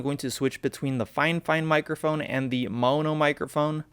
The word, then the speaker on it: Fifine: and they said that it's actually pronounced fine fine not fi fine like the way it's spelled i honestly don't know